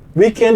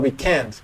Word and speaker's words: weekend: Weekend is a double tonic syllable word. It's not weekend, it's not weekend, it's weekend.